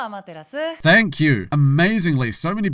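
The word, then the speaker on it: アマテラス: but not before Uncle Dreamy clarifies how to pronounce the Shinto goddess of the sun's name. おはよう、アマテラス。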